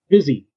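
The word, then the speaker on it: Bizzzy: Busy. But I think it's spelled B-I-Z-Z-Z-Y.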